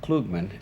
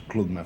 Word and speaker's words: Klugman: shall we i pronounced your name klugman and you like i always say klugman but the correct pronunciation is klugman from are you jack